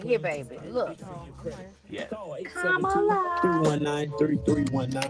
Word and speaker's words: Kamala: Kamala. In case you guys don't know how to pronounce her name, it's a comma and la. Comma, la.